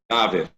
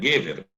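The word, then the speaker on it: גבר: A palavra Gaver, a palavra é Gever. Gever quer dizer do homem. Como está no final de versículo, tu vai mudar essa primeira sílaba do E para A. Você fica Gaver.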